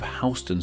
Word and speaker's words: Houston: city in Texas, and while they are spelled the same, they aren't pronounced the same, which, believe me, I found out about in my Neighborhoods of NYC video. In Texas, we have the city of Houston, while in NYC we have Houston Street.